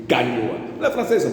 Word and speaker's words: Gagnoa: Ils ont laissé sur la terre ici les Gognoa. On dit Gagnoa.